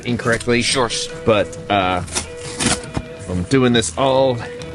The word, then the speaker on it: Sjors: Sjors, S-J-O-R-S, Sjors, over at Sjo-Cal.